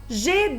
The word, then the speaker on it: jet: Je, ai, j'ai, comme dans le mot jet d'eau. Dans le mot jet d'eau, j'entends la syllabe G, même si j'écris G-E-T. Je prononce G.